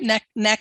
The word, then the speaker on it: Naknek: with um uh am i saying it right neck neck neck neck neck yeah neck neck and uh